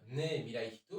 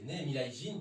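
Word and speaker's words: 人: Et puisqu'on parle de kanji, la chanson d'avant, moi je disais Ne Mirai Hito, mais en fait c'est Ne Mirai Jin, puisque le kanji est le même. Simplement, on ne le prononce pas de la même manière.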